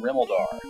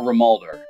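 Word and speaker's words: Rimuldar: the 2 doors in Rimaldar. Or Rimaldar, depending on which syllable you like to put the emphasis on.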